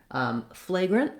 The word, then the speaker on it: flagrant: after the word then the difference between fragrant and flagrant is of course this r versus this l flagrant otherwise has the same pronunciation as fragrant same syllable stress same length and reduced vowel in the second syllable so just watch